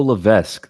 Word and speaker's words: Levesque: Bo Levesque, like Triple H.